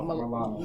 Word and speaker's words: Milano: Is it Alano or Milano? Milano. Yeah. Melissa Milano.